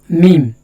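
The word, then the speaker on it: م: লাম লাম লাম লাম এরপরে যে হরফটা হল মিম এ হরফ উচ্চারণ হল মিমের মাখাজ 15 মাখরাজ দুই ঠুটের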